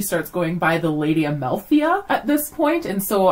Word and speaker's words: Amalthea: Amalthea. Amalthea. Most other princesses have pronounceable names.